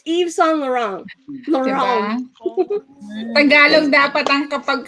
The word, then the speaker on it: Yves Saint Laurent: Yves Saint Laurent? So it's Yves Saint Laurent. Diba? Tagalog dapat ang kapag kaka-pronounce niyan.